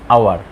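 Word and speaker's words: hour: যেমন an honest, তারপর অ্যান আওয়ার। এইখানে এইসের উচ্চারণ হ না হয়ে অ হয়েছে, অর্থাৎ স্বরবর্ণের মতো হয়েছে।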